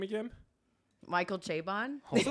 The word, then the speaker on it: Chabon: Instagram last night, I think I called him Chabon. I guess it's not right. So it's Chabon. Is that how we pronounce it?